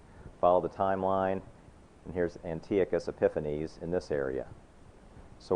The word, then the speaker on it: Antiochus: the last 20 years, I have heard this and I've pronounced it Antiochus, so I'm going to slip and say it that way. I found out recently it's actually apparently pronounced Antiochus.